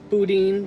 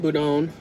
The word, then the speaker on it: boudin: specific sausage because apparently the pronunciation changes from town to town yes we were discussing it's been boudin boudon this is really good